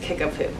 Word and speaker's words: Kickapoo: one's a fun one you should look up the spelling for it because it's not what you would expect but it's pronounced kickapoo so those three communities